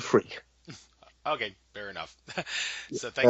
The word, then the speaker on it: Freke: It is actually pronounced Freak. It's an old West Country name, and that's what I grew up with, being called Freak.